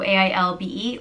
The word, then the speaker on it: Ailbe: The next name is Ailbe, and it means white hawk. intelligent or noble, and is pronounced Ailbe, or Ailbe, Ailbe. So it can be spelt with or without a H in it, so A-I-L-B-E or A-I-L-B-H-E.